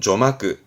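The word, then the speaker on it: 序幕: 개막식 폐막식을 이거는 서론 본론에 서점이다 서막입니다 발음은 조마끄 조마끄 서막이라함은 어떠한 일에 시작 단계를 말하는 거죠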